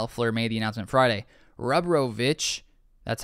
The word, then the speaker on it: Rebrovich: Rebrovich, that's how you say it, brings 20 years